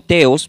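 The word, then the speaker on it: theos: viene del griego y se pronuncia como teos Pero se escribe la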